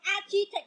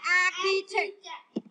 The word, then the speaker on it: architect: Bạn nào đọc architect là sai, phải đọc là architect. Kiến trúc sư.